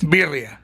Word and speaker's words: birria: Birria. Sí. Birria. Birria. Double R, roll.